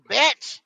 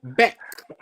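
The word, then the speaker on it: Bech: brought Betch or whatever. No, However no, you no, want to no. pronounce Don't do the batch. Do Beck.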